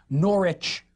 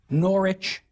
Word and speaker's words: Norwich: Or the suffix wich, pronounced without the W now, like Norwich or Harwich.